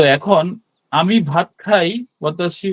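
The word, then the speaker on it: は: তো এখানে লেখা আছে যে ওয়াতাশি, এখানে আপনি ইংরেজিতে হা দেখলেও এখানে উচ্চারণটা ওয়া হবে।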